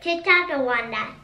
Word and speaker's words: Ticonderoga: I know how to say it. How do you say it? Ticonderoga. Oh, okay. That's probably how you say it.